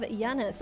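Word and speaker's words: Janus: The leader of Giannis. I was happy I pronounced that right cuz they called it Yiannis in the movie.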